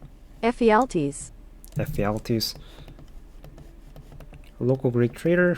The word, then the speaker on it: Ephialtes: The Persians learned about this path from Ephialtes. How the fuck can you pronounce this? Pronunciation? Ephialtes.